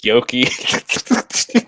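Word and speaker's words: Yockey: Yoki.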